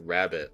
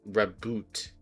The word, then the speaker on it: Raboot: even they just put rabbit like it still doesn't work for me cuz it's not it's not even rabbit it's raboot like it's not R